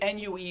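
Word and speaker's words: 虐: It's actually N-U-E is pronounced nue, nue.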